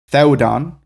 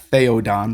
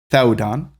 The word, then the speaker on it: Theodon: And so we'll see in Old Saxon, Theodon, right? Not Theodon, but Theodon.